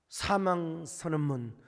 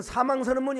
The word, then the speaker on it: 사명: 사명 선언문 발음을 잘해야 됩니다. 옛날에 우리 박종 목사님이 사명의 노래를 부른다고 하는데, 아니 그 사회자가 우리 박종 목사님께서 사망의 노래를 부르겠습니다. 여러분, 사망 선언문이 아닙니다. 사명 선언문입니다.